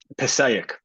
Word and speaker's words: Passaic: and how do you say this one here Passaic perfect yeah much much better especially with your